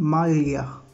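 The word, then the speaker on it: maglia: उसके बाद जो नेक्स्ट एग्जांपल है वो है मालिया। यहाँ भी तीनों वर्ड इकट्ठे हैं, तीनों अल्फ़ाबेट इकट्ठे आए हैं, जी एल ए ई, ये तीनों इकट्ठे आए हैं, तो ये लफ्ज़ बना मालिया।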